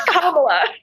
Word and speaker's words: Kamala: excited I'm telling people how to pronounce her name it's comma and it means lotus in h I'm telling you